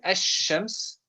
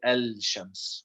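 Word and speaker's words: الشمس: lamb is still there the difference is we don't pronounce it in the sun okay this is an important lesson especially when it comes to reading quran because you know in the quran we can't say al-shams okay so now i'll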